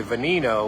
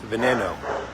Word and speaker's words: Veneno: told me last week I always say venino when it's not venino it's Veno Veno is a in ad